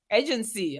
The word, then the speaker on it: AGINCI: that out because uh for those listening before I spoke with Desiree I was like agency agency I I was trying all of the ways that I could say the word and then I got on the call and I asked you how do you say the name of your company and you're like agency I was like oh yes so as we mentioned